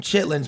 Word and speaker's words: chitterlings: know what chitlin there's we pronounce them chitlings but if you ever spell them it spell like chitterlings I Googled it today and you read it's chitterlings chitterlings but nobody nobody would